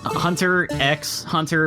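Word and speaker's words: Hunter × Hunter: It's Hunter X Hunter, but you don't pronounce the X.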